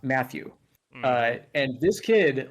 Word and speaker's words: Matthew: So when you pronounce my name with a Japanese sort of pronunciation, style of pronunciation for my name, it is, not Matthew.